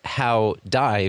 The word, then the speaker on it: Howdie: by the way that your name howdy is how die phonetically so you could also